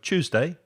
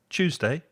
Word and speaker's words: Tuesday: thursday so martez tuesday i pronounce it with a ch cha like a train so tuesday tuesday and thursday put your